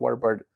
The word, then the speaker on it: Warburton: wise words of Patrick Warburton. It's a hard last name to pronounce. Yeah, Warburton. Yeah. Well, Warburton. Warburton is the British way of saying it. Warburton is probably the American way.